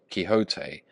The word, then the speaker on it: Quixote: Misfortune to know that the gentleman's name is pronounced Quixote when ignorance from out of our Lives can